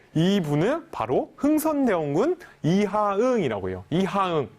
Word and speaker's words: 이하응: 아니죠 왜 아 좋습니다 4 2분은 바로 흥선대원군 이하응 이라고요 2항 발음 하기 힘든데 잘 한번 따라해보세요 이하 흥